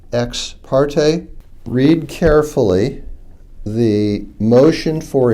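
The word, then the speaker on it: ex parte: after the word order e ex p a r t that's usually pronounced X parte read carefully the motion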